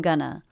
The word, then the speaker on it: gonna: The first syllable is stressed, gun, and the second syllable unstressed, Gonna.